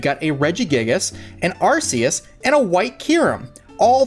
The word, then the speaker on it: Arceus: really cool looking background obviously you know Rus is the god of Pokemon or archus however you want to pronounce it obviously both ways are correct according to different pronunciations that we've heard over the last few years but here we've got